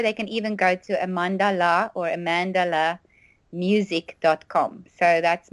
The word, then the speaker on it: Amandala: which is my surname so it's amandala and uh and I like it sounds like Mandela or you know so